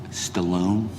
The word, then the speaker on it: Stalin: to my grandfather from Stalin in my country it's pronounced Stallone you have a sound